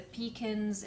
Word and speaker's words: pecan: different when i say please pass me the pekins it's not pecans it's they say pecan it's just for that's pronunciation that also changes across america because some states say pecan and yeah so a